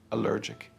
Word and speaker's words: allergic: Stress the second syllable, allergic.